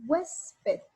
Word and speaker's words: huésped: En la palabra huésped, aquí yo elevo la voz en huésped y esa se va a llamar sílaba tónica y la restante, en este caso esta que queda, se llama sílaba átona.